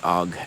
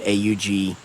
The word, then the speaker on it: AUG: And you're going to hear me say OG again product of my time. Sorry. I know that AUG, the basically universal army rifle, is probably the more accurate pronunciation.